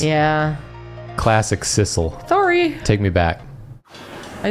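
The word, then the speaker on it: Sissel: is not Cil it's sisle it's sisle yeah I keep saying Cil cuz I want it to be Cil it's not it's got two s's yeah classic sisle sorry take me back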